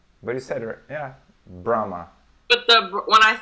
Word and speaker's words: Brahma: you pronounce this brand Brahma yes here we say Brahma Brahma grandma yes I was expecting like Brahma or something like this but no because this letter H in the middle very cetera yeah Brahma